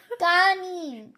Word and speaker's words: kanin: No kanin kanin kanin kanin kanin kanin pito walo si